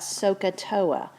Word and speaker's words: SOHCAHTOA: hypotenuse tangent is opposite over adjacent and you pronounce that sohcahtoa and if you just repeat that to yourselves